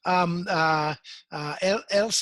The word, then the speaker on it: Elsab: Elsab, am I pronouncing that right? Elsab Vessels? Yes, you pronounced it correctly.